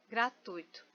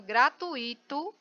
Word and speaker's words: gratuito: a pronúncia está errada a palavra gratuito também essa é a forma correta gratuito mas o que a gente escuta de pessoas falando gratuito não está na lei